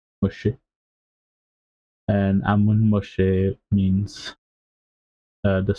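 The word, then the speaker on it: משה: Moshe is how you pronounce Moses in Hebrew. Moshe and Ammon Moshe means the son of Ammon, the descendant of Ammon, descendants of Ammon.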